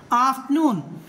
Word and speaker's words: afternoon: whenever we find the letter R, if it is preceded by any of the vowels, the R must be pronounced silent like afternoon.